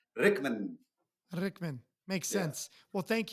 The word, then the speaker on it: Rykman: how to spell so they spelled it all wrong but pronounced Rickman Rickman makes sense well